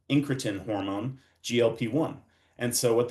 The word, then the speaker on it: incretin: But essentially, the GLP-1 receptor agonist mimics the natural incretin, which rhymes with insulin, incretin hormone, GLP-1.